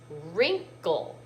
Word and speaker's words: wrinkle: t's this word is wrinkle the w is silent so where would i